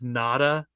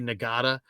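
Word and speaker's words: Ngata: Clemson who's from Sacramento Joseph NADA it's spelled n-g-a-t-a nagada played it at uh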